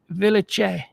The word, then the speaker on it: Villechaize: How about, and I'm going to pronounce it correctly, Hervé Villechaize. Hervé Villechaize. That's the French pronunciation. Hervé Villechaize. Villechaize.